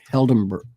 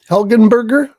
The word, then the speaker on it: Helgenberger: with the exceptions of one person who, Marg Heldenberg. I can't say her name. Helgenberger.